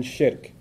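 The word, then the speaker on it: shirk: Muslim from his faith perspective nothing worse than shik s h i r k sounds like Shrek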